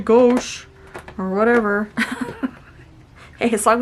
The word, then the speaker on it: gouache: Michelle said gouache, and it's actually gauche, or whatever.